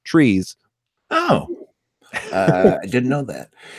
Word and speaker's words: Treas: Now, her name is spelled Treas, and forever and a day, I've always thought that that was pronounced Trias. However, in a bonus material that I watched with the producer, Kenneth Johnson, he explained that her name is actually just pronounced Trees.